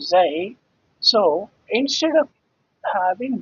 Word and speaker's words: xi: That constant, I said, this is in Greek letters, this is pronounced xi, xi in Greek, which is equivalent to x.